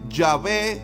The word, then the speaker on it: Yahvé: No obstante, sí podemos decir que la mayor parte de teólogos y estudiosos concuerdan en que la pronunciación más cercana a la verdad pudiera ser Yahweé, Yahvé, según algunos.